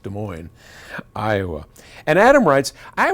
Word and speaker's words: Des Moines: us from Adam in Des Moines pronounced Des Moines Iowa and Adam writes